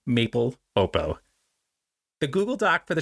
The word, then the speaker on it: Maple Lopo: The pronunciation Maple Lopo rhymes with maple, so Maple Lopo.